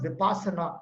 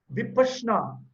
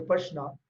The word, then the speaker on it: Vipassana: This word called, it is not Vippasana. A lot of people pronounce it as Vipassana. The actual word is a Pali word. In Pali language, Vipassana, Pashna means to see, and Vipassana means to see within.